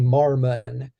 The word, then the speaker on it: Mormon: and what's interesting is Mormon m-o-r-m-o-n there's two o's and um the the pronunciation on the one is different than the pronunciation on the last and it's actually Marmon and uh so you